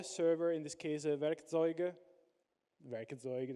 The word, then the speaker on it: Werkzeug: Werkzeug, that's the way you pronounce it.